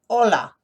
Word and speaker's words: hola: the most hello hola see the big o hola this is abelardo he